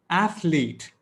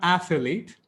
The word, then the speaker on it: athlete: not epitome it's epitome athlete not athlete f lead let's settle this internet